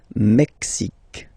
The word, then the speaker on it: Mexique: Mexique. It's really the X. Huh? Le Mexique. And then remember this QUE, it's only K.